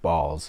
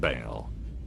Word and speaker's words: Baal: or a god named balls is literally the guy that wants children like come on dude like that's crazy it is not pronounced ball it is pronounced Baal as in the Bale